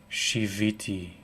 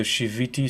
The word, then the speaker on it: shiviti: use the first word shiviti and you would spell it s h i v as vector v i and it sounds like the word shabbat there are sound equivalent